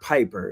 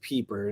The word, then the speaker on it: Piper: time um and yes it's not Piper it's peeper no it's not not related to Ethan Piper even though it's spelled the same um and they both